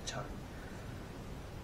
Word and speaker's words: Chan: My name's not Tran, my name's Chan. It's Asian names, I can't pronounce that shit. Sorry for the itch. And that's my name. I put it as Chan on my channel, or Chan Uncut on this channel, because that's how it's actually pronounced.